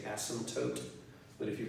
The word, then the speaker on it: asymptote: cross is called an asymptote a s/m excuse me asy a.m. PT ot e most people don't pronounce the P and just say asymptotes but if you pronounce